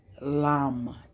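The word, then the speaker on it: लं: This particular crown chakra is the lam, Lam. Everybody pronounces it different, but it's more of a lum.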